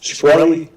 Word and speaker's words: Shkreli: Is it pronounced Shkreli? Yes, sir.